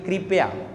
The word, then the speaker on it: कृपया: लिखा कृपया नहीं होता ये री होता है ये रे नहीं होता ये क्या होता है री और इसका उच्चारण भी कैसे होना चाहिए कृपया और ध्यान देना कृपया